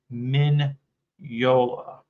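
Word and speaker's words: Mignola: want to say the g Min Min minola minola yes that's how you say is name tank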